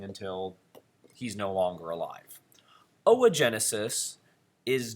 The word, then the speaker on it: oogenesis: I know it says oogenesis, but it's pronounced o-a, so it's oogenesis.